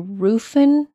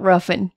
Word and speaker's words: Rufin: January 1st, 1834, Woodroof sold Laurel Grove to Rufin Gray Sterling. What's up with these names? I want to say it's Rufin, not Ruffin. Ruffin sounds horrible.